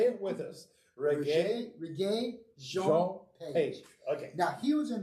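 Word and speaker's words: Regé-Jean Page: I didn't know what it was, but it's Reggae Jean Page. Reggae Jean Page. Yes. Okay. So he's watch it along. We're going to say it with us. Reggae Jean Page.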